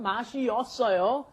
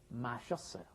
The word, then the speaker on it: 마셨어요: 마시없다 is the original form, 마시었어요. But then when you mash it together and pronounce it like a normal Korean person, you say 마셨어요.